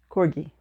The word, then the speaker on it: Corgi: and work on my Corgi I I Googled it how to pronounce that dog name and it's like okay it's like the G and get so before I say